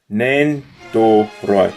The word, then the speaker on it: Nendoroid: Nendoroid. Did I say it right now? Hold on. Nendoroid. Yeah, it's correct.